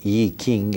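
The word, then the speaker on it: I Ching: the ancient Chinese oracle, the IQing or E King as it is pronounced in Chinese.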